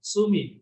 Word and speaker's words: sumi: Sumi means like in and water. Su like water, mi is mo, means like ink. Okay, in Chinese pronounced sui, mo. Okay, in Japanese su mi.